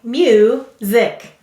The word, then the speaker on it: music: Go ahead and write music. Sounding it out as you write it. Excellent. Now help me write it. The first syllable is mu. You. The second syllable is zik.